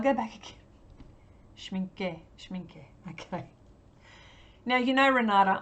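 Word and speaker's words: Schmincke: Ranade says schminke schminke you pronounce the e she mean gay schminke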